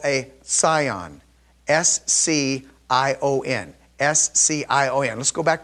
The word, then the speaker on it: scion: This is what we refer to it as, pronounced scion.